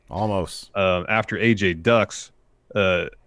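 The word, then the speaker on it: Olmos: there's no element well i'm just trying to make the l really subtle because it's the only way i know how to say it's like almost or edward james almost yeah there's an l in his name there's not an ellen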